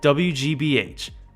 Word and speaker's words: WGBH: a dog park is wig wig uh how do you say that oh you're supposed to say it like you're spelling it out oh WGBH anyway the PBS affiliate